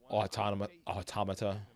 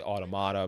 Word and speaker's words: Automata: happened with the Near Automata. I usually say Automata, but I know I'm saying that wrong. People say it's pronounced Near Automata.